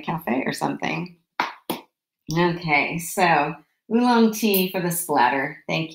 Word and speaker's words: oolong: it in a cafe or something okay so oolong tea for the splatter thank you nancy now